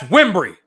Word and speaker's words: Wimbrey: They said my name wrong. My dad stood up in front of hundreds of people and said, "That's Wimbrey."